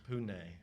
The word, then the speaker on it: Pune: Or I think, as I now heard, it's Pune, I think.